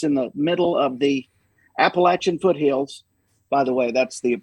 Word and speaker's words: Appalachia: It's like, I'm going to throw an apple at you. Appalachia. That's how you say it.